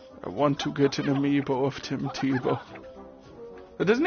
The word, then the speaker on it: amiibo: Tim Tebow, please look at my amiibos. Oh, you've got a nice set of amiibos. If anyone's wondering why I'm calling them Tim Tebow, it's just because it rhymes with the word amiibo.